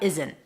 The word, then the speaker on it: isn't: Not basically becomes it's an N sound, and then you stop it abruptly. I want to say with a T, but it's not really a T. You just stop it abruptly, and that suggests that there is a T there. It's totally fine if you pop your T here. If it's easier for you, just do it. It doesn't really matter. You don't have to hold the T here.